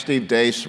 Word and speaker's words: Deace: The first, and I asked Steve Deace, rhymes with mace because that's what he hits you with, about whether or not Iowa would give up their preferred poll position.